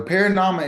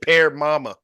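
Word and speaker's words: parinama: I thought you said pear mama. Yeah. No. Paranama.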